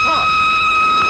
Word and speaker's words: Froy: My name's Froy. You said Froy? No, not indeed. Froy. Sorry, I can't hear. It rhymes with joy.